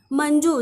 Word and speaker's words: मंजू: तो शब्दात सुरुवातीला आहे मंजू ज्यावेळी आपण बोलतो त्यावेळी अन असा उच्चार होतो आणि अन ला आपण इंग्लिश मध्ये एन असं लिहितो म्हणून आपण इथे ए एन लिहून घेतलं एम ए एन मन